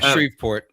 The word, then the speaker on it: Shreveport: Yeah, Shreveport.